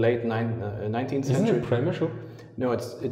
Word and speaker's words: Przemyśl: Isn't it Przemyśl? No, Polish people told me it only has 2 syllables, and they only laugh when we Westerners try to pronounce it with 3 syllables. So basically, Przemyśl is the Austrian version of Przemyśl.